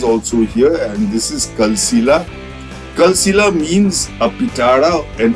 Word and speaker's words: Kalsila: collected so this is your Kila cave folks cila has been Mis pronounced Mis as Paka the actual word is cila folks I hope you found this video educative